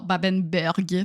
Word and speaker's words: Babenberg: De Baba au rhum? Non, Babenberg. D'accord. Ça s'écrit comme ça se prononce.